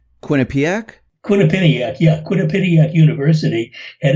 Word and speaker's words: Quinnipiac: I wrote a couple of days ago the latest, if I'm pronouncing the university right, Quinnipiac? Quinnipiac, yeah.